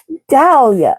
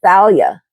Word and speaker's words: Thalia: right next oh yeah Dalia Thalia I'm sorry baby girl I mispronounced your name Thalia oh wow Katie yeah